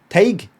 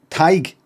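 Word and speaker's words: Tadhg: Just tag, thanks for the I know you can't pronounce it, it's Irish for Tim. It's like Tide, but with a G. Tig?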